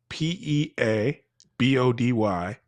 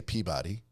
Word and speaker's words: Peabody: that and you saw a sign that was P E A B O D Y, what would you say that the name of the town was? Oh, in Well, I would say Peabody.